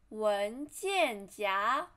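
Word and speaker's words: 文件夹: flat tone 夹子 and here is 文件夹 second tone 文件夹 and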